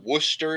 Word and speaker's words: Worcester: drove through Worcester yesterday if you've ever seen how Worster is spelled it's like Worcester yeah like you're yeah right so the way so the way that he spelled deer definitely just had me laughing sauce wash wash your sister sauce yeah wor a sister sauce I'm like how do they miss like three syllables in this word just skip right over them they're like yeah we